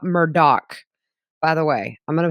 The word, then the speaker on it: Murdaugh: down to the Low Country for the Alec Murdock Murdock by the way I'm going to say it